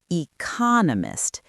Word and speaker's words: economist: Economist, it has a rhythm, a heartbeat on that second syllable.